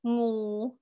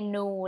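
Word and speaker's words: งู: NG is pronounced like a ng. Okay, so for example, the word snake is ngu, ngu. But a lot of time foreigners in Thailand would say nu, like it's just an N.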